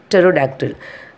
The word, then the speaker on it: pterodactyl: The spelling is Pterodactyl, but we are pronouncing as a pterodactyl.